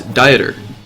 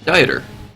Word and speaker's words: Dieter: It's Dieter. Dieter. Oh, I'm sorry. Been pronouncing it wrong this whole time.